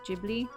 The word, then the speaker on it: Ghibli: castle on the sky he's a kid Lee or GD I think I think the correct pronunciation is Ghibli but see I was